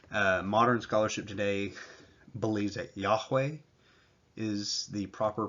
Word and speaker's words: Yahweh: There's no J sound in Hebrew. You go through the Hebrew alphabet, you're not going to find a J sound. Modern scholarship today believes that Yahweh is the proper pronunciation,